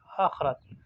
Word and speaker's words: آخرت: سکون کے ہاتھ میں۔ آخرت، الف کے اوپر مد ہے، خا جو ہے وہ سکون میں اور را کے اوپر زبر ہے۔ توازن تا واو اور